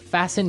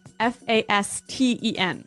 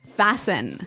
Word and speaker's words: fasten: It's spelled F A S T E N. Right. So, it would be fasten. No. No. Right. Fasen. Fasten. The T kind of becomes silent.